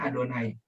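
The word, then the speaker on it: יהוה: membacanya ya Beb tapi kalau yhwh itu dibacanya adonai Nah kalau kita ih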